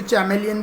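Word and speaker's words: chameleon: कैमेलियन जो रहता है, जिसको कुछ टीचर चैमेलियन भी प्रोनाउंस करते हैं, उसकी भी लंबी चिपचिपी ज़बान होती है इंसेक्ट पकड़ने के लिए, ठीक है।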